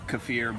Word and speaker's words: kefir: is water kefir so um most people know cfir but um and that's actually the pronounce but here in Oklahoma say CER but um but yeah it's cir this is